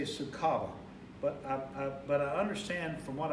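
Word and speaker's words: Sucaba: I want to say Sukaba, but I understand from what I found online that the head brewer, Matt Brendelson, pronounces it Sukaba, S-U-C-A-B-A, which is actually, how it's spelled.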